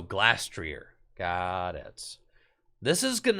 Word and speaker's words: Glastrier: Glassrear. How do you say the ice horse? Glastrier. Oh, Glastrier.